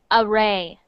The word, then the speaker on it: Arie: friends perfect next one arie that is actually pronounced array array array array good next one oh what